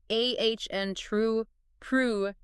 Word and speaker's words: entrepreneur: So in American English, the correct pronunciation is more like ah n true prhure. Notice how that stress shifts to the end.